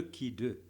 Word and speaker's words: khi 2: Ça s'écrit comme ça, x au carré, ça se lit le qui 2.